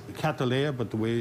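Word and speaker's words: Cattleya: in there with the orchid in there it's catalya but the way it's we pronounce it is catalya okay and we also have an area in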